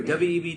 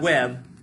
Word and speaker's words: W.E.B.: And it's not Webb. W.E.B. It's W.E.B., right?